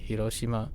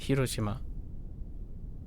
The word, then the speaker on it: Hiroshima: Um, is what I heard before Hiroshima, right? Hiroshima, not Hiroshima.